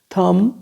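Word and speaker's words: thumb: ठीक है, और जी, चारों साइलेंट वर्ड दे रखे हैं। थम, ठीक है, थम, थम ऐसे।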